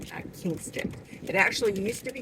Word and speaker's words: Kinston: And now it's changed its um pronunciation to Kin- Kin like family Kinst- I keep giving the G. Kinston. Kinston.